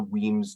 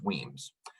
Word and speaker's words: WEAMS: as well as their solar courses with the weems database system i'm going to go ahead and